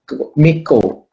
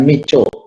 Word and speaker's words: mycoplasma: disini dibaca es ya DC dibacakan micro Miko bukan michu bukan Miso juga aktino bukan astino ya